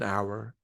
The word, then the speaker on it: hour: An honor, an hour, an honest person. If the H is silent and I'm pronouncing the vowel after that, I'll use an.